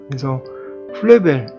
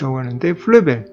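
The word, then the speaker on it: Fröbel: So, it is pronounced "Flöbel." In German, it is written like this. So, the umlaut—two dots—is called an umlaut, and it is pronounced "Flöbel."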